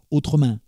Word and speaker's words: autrement: Car il faut vous dire qu’à Tarascon toutes les phrases commencent par et autrement, qu’on prononce autremain, et finissent par au moins, qu’on prononce au mouain.